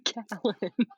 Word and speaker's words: Callen: the first uh Talon my my name is Carolyn we have no needs other for so long